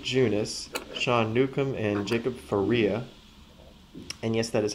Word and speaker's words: Faria: pretty well Jake junis Shan Nukem and Jacob Faria and yes that is how you pronounce it according to baseball reference uh and